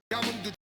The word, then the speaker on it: 감흥: But the first consonant here of this letter is placed after the consonant 비음, nasal sound.